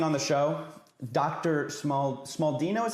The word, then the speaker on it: Smaldino: Smald Smaldino is how you say your name.